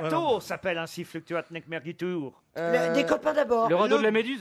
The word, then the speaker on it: mergitur: Ça se Mais- prononce Merguitour, mais...